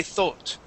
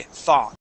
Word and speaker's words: thought: now if you're in in England you would say thought okay and have more of o sound but in the United States that o u g sounds like an a we say thought th thought thought okay